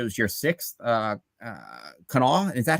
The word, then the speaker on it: Kanawha: how you pronounce it you can quickly tell who's from in town and out of town you'll hear quinoa you'll hear Canada you'll hear random stuff and it's like no it's Canal so you actually said